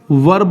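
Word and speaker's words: were: हमेशा याद कर लीजिए वर ही होगा। इसको बहुत से लोग वेर भी पढ़ते हैं, जो कि सही प्रोनाउंसिएशन उसका वर है।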